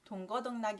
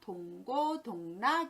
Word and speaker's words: 동고동락: 동구동 나기 정당 입니다 그런데 흥이 발음을 우리가 동거동락하며 다라고 변하는데 잘못된 표현이 겠지요 유의하셔서 동고동락 이라고 예 셨을 면 좋겠습니다 두번째